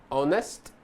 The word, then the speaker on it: honest: Há 4 palavras em que o H inicial não é pronunciado em inglês, ou seja, ele é silent. São essas a seguir. Então nós temos hour, honest, honor e air. Lembra que o H não é pronunciado, ok?